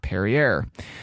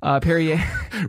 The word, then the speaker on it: Perrier: Following that, at a whopping 150 years old, we have Perrier. No, it is not Perrier. Perrier. Which rhymes with derriere.